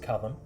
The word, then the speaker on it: Kadim: Alright, so Kadim, in Arabic pronounced Kadam.